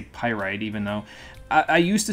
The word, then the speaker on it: Pyrite: in pirate pirate pyrite however you want to pronounce it i'll say pyrite even though i used to say pyrete and so now i say pyrite i didn't